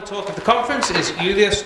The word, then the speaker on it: Juliusz: Can you pronounce it once for us? Full name. Juliusz.